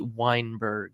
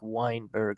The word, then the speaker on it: Weinberg: NE b r g you know usually it's we i n but this is wine as in like the drink Weinberg Lindsay Weinberg we have